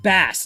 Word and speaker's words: bass: It's bass, not base. They're spelled the same though, right?